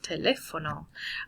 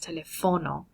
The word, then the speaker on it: teléfono: Now, with teléfono, this second E here needs that accent. Okay, so teléfono. Otherwise, if you don't have the accent in there, it just changes the pronunciation of the word, and instead of teléfono, it would be pronounced telefono.